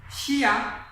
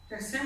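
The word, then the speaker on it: シャ: তাহলে এটা লাগালে আমাদের উচ্চারণ হওয়ার কথা হচ্ছে শিয়া, কিন্তু উচ্চারণটা শিয়া হবে না, উচ্চারণটা হবে মূলত সা।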